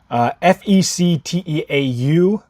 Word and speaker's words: Fecteau: F-E-C-T-E-A-U, Fecteau, I think is how you say that.